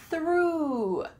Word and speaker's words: through: Through, through, this sounds exactly the same as the past tense of throw.